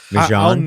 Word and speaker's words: Mjøen: And the hard thing about it too is it's spelled MJOEN. Mm-hmm. It's like Mjøen.